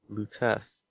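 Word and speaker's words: Lutece: lutas lus oh yeah it's not lettuce l number two um how do you say it Lutes Robert Lutes is there now what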